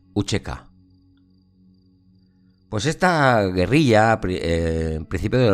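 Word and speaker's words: UÇK: Esta C se pronuncia como como ch Uchek.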